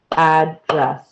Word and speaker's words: address: Now, there's a total of 2 syllables in this word, address. You can clap it out, address.